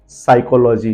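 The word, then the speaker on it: psychology: हमारे बढ़िया सब्जेक्ट है साइकोलॉजी ध्यान से स्पेलिंग को देखिए पीएस वाई एस के आगे पी दिया गया है दैट इज वय P silent साइकोलॉजी then last and नॉट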